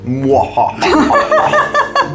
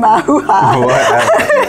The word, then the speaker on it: Mahua: Moha. That's how you pronounce it. That's better than Mahuha.